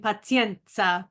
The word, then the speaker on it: pazienza: paen and I walked Around All Day saying Penza Penza um Penza not to remind myself to